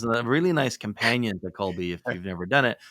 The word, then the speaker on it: Kolbe: So to wrap up for the audience, Colby was mentioned, and that is spelled, in case anyone ever wanted to go look it up, it's Kolbe. It's Colby.